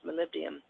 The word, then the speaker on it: molybdenum: mo ly dden um it looks like Molly be diem that is pronounced molybdenum and it sounded beans